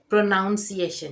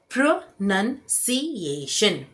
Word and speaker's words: pronunciation: प्रोनाउंसिएशन नहीं है। ये है प्रोनंसिएशन।